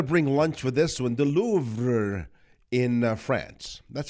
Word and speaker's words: Louvre: The Louvre in France. That's how it's pronounced, right?